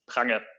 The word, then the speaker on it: Prange: But the correct German pronunciation is Prange.